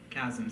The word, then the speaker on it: Kazim: Kazim, is a common mispronunciation of my name.